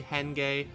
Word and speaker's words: Henge: So sorry about the mispronunciation. It's actually Henge.